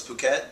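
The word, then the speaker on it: Phuket: a place in Thailand oh it's puket yes it's mispronounced it's fuk it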